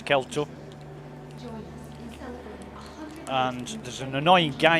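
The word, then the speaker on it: Kel-To: Or Kelto, depending on how you pronounce it, but it's Kelto.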